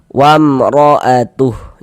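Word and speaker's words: وامرأته: Jadi, bunyi mim soqon atau mim mati itu dibaca jelas. Kemudian tidak didengungkan, tidak dighunahkan, maka baca pendek saja. Wamroatuh. Jangan dibaca wam dipanjangkan gitu.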